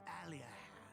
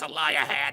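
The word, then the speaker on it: Aliahan: Once you're feeling suitably prepared, make tracks for a spring to the east of Alian. No, that's not how it's pronounced. It's a liahan.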